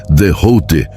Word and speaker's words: Thoth: nas tábuas de esmeralda de Thoth, pronuncia-se Dehouté, como a grade infinita da criação.